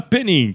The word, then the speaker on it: Pennink: no no Linkedin né meu nome como você pronunciou muito bem penin e também pelo Instagram Então isso é um